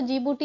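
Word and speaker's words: Djibouti: ये प्रोनाउंसिएशन तो जिबूटी होता है बट डी से शुरू होता है तो डी जिबूटी।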